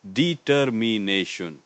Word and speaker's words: determination: For pronunciation, it's determination. 5 syllables with the main stress on the 4th syllable, ne. Determination. Make sure you get that clear I sound in me and ne at the end.